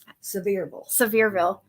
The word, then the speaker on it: Sevierville: Sevierville.